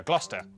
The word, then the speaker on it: Gloucester: a couple of basics sester is pronounced stir leicester worcester gloucester w at the start